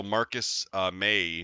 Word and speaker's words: Marcus May: Um, and then also Marcus May. Did I say it right? Yeah, Oh my God, I got one right. Yay me. like the month.